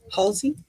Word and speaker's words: Halsey: I think it's Halsey. Halsey. Halsey's how you say it.